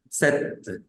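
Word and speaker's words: sept: la t y no se pronuncia la p entonces decimos set set set set esa p es muda en ese número el número ocho es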